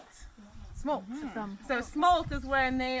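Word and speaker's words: smolt: but that's a species it rhymes with like bolts like a lightning bolt smoke so smoke is when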